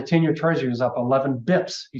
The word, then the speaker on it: bps: year was up 12 bips today that sound does that sound like a college student sounds like a finest professional 12 bips 12 basis points bips is spelled BPS the other question is